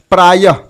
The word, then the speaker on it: प्रायः: विसर्ग युक्त में क्या है कि विसर्ग भी अनुस्वार की तरह स्वर के बाद आता है, इसका उच्चारण ह की तरह होता है, जैसे प्रायः।